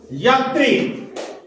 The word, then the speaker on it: যাত্রী: আমরা যা ত্রি উচ্চারণ করি না। আমাদের যখন বাংলায় কোন শব্দের সঙ্গে জফলা বা রফলা যুক্ত হয়, যদি প্রথমে না থাকে, যেমন ত্রাণ, ত্রাণ, এখানে তয় রফলাটা প্রথমে আছে। তাহলে রফলা যুক্ত শব্দ যদি প্রথমে না থাকে, তাহলে এই রফলাটার আগে যে শব্দটার সঙ্গে রফলা, যে অক্ষরটার সঙ্গে রফলা রয়েছে সেই অক্ষরটা দুবার উচ্চারণ করে।